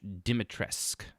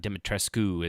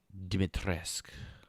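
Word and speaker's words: Dimitrescu: three remake thing and yes her name is pronounced dr demi dimitresk not demetrescu as everyone was saying uh dimitrisk it's apparently it's uh romanian because sure even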